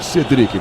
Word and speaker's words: Cedric: cara pvs cedric ou cedrick qual é a pronúncia Olha pelo que me falaram no dia da apresentação dele é cedric esse assento no e a gente fala exatamente cedric muito bem vamos então pro